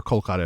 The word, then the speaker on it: Kolkata: It is something they only reveal when they dream of their childhood in Calcutta or something like that, or Kolkata if you want to use the contemporary pronunciation.